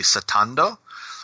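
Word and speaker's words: スタンド: It's more related to how it's pronounced in the original Japanese would be satando, which is very similar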